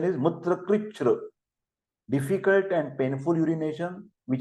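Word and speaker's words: मूत्रकृच्छ्र: Mutra krichra, the pronunciation is mutra krichra, difficult and painful urination, which is also called as a dysuria.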